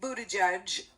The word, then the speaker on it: Buttigieg: Granholm, the former governor of Michigan, and Pete Buttigieg, who will always be Mayor Pete, because most of us have never learned to pronounce his last name properly.